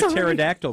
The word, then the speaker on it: pterodactyl: I I get that why can't you hear a pterodactyl going to the bathroom because the p is silent yeah there you go